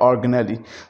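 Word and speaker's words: organelle: इसी तरह से बड़ा है तो ऑर्गन, छोटा है तो ऑर्गेनल, इट इज़ नॉट ऑर्गेनली।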